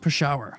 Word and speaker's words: Peshawar: happened in 1984 in a refugee camp near Pasha Pakistan yes I know it looks like Peshawar but it's pronounced Pasha a photograph is taken with a Nikon fm2